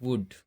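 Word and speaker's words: would: इसको हम नहीं उच्चारण कर रहे हैं, इसका उच्चारण नहीं कर रहे हैं। इसी तरह से आगे देखते हैं वुड, शुड।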